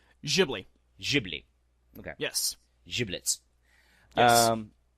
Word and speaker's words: Ghibli: Okay, am I pronouncing it right? Ghibli or Ghibli? Ghibli.